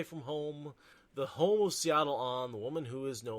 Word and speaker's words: Setalle Anan: And this is the Wandering Woman, Matt's home away from home, the home of Setalle Anan, the woman who is no longer, probably one